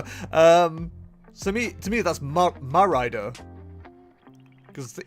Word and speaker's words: Mérida: The E to me is pronounced as an A, but It's what? It'd be Spanish, wouldn't it, rather than like French? Mérida.